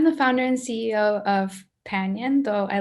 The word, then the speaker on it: Panion: So I'm the founder and CEO of Panion, though I like the way Harry pronounced it, Panion.